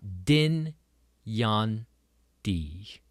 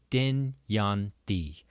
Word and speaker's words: Dynjandi: We've got Dyn Jan Dee. Dyn Jan Dee. Most important thing is that the J in the middle of it is pronounced like a Y, the ya sound.